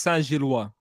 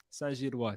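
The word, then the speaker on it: Saint-Gilloise: I think it's pronounced Saint-Gillois. Saint-Gillois. So there you go. If I'm wrong, I'm wrong. But let me flex that little French over here.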